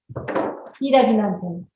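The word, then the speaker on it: ヒイラギナンテン: Hiragi nanten would be the correct way to say in Japanese.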